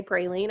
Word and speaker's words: praline: I don't know if Texans say praline. I guess they do, or they write it that way. I know how to pronounce it, and it's pronounced praline.